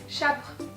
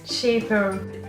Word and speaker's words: Shapr: Chapre. Désolée, mais ça se prononce Shaper.